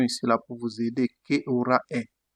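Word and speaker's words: che ora è: On aura en italien que aura est J'ai mis une prononciation ici là pour vous aider. Qu aura est ?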